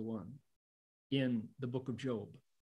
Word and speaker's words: Job: Well, there's a story in the book of Job, J O B, it's job, spelled like Jobs, Steve Jobs, but it's pronounced Job.